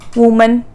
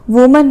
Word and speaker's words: women: next वुमन, यहाँ पर भी हम नोटिस करेंगे WOMAN, सिंगुलर है, वुमन है, ए लगाएंगे, प्लूरल में ई आ जाएगा और इनको प्रोनाउंस भी अलग करेंगे, वो WOMEN, विमेन, विमेन, FOOT, foot, और फुट